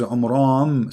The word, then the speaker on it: Amram: Secondly, he could not pronounce the name correctly of the father of Moses and Aaron, because his name is Amram. So the last letter is M, not N.